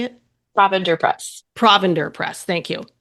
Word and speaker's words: Provender: Provender Press.